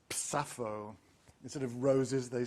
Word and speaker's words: Sappho: Of course, you don't say Sappho because that's not how her name is pronounced in lesbian dialect. It's Sappho.